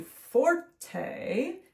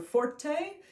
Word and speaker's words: forte: it m e z z o and then Forte is spelled f o r t e okay so